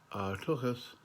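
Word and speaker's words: tuchus: Now, if you were saying tochas, which is spelled Tuchis, if you were saying that in Gaelic, it would be tuas. See the difference? The CH is like you're trying to make the sound of when you take the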